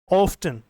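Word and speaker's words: often: वी ऑफ्टन या ऑफन, दोनों pronunciation है, ध्यान से सुनना देखना इसको।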